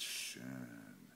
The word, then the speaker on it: schön: you say es ist schön. And the O with the umlaut, you pronounce it like a U-R.